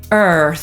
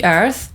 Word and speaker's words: earth: I po amerykańsku „Ziemia” to też tylko dwa dźwięki, tylko zamiast pierwszej samogłoski /ɜː/ mamy spółgłoskę /r/, więc „Ziemia” po amerykańsku to /ɝːθ/.